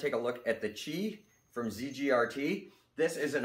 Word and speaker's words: Qi: and you can see the yoyo's spelled Qi but it's pronounced Chi as far as I